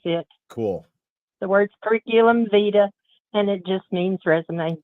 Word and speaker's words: vitae: Curriculum vitae, V-I-T-A-E, pronounced vita.